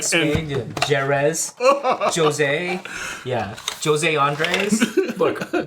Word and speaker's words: Jerez: Jeddah. What is it, dude? Don't just laugh. Educate. Because he doesn't know. Educate. I spat all over the place. Rich spice. Like Spain, Jerez, Jose.